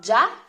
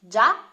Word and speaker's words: già: Then we have già with an accent on the a, già.